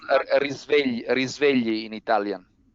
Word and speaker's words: Risvegli: risvegli in Italian.